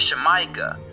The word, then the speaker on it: Xamayca: Well, just like in Mexico, the X is originally pronounced SH. So, the original pronunciation was Shemaica.